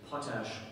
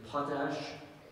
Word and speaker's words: potash: In a sentence, in colonial days, potash was used to make soap. Are there any alternate pronunciations? It is either potash or potash.